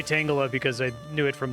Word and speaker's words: Tangela: I was talking to my sister-in-law, Lisa, and her husband, Matt, about Pocopia, and they pronounce Tangela Tangela, which is really funny. Like your neighbor, Angela, Tangela. I only say Tangela because I knew it from the Pokemon rap, and I guess it makes sense.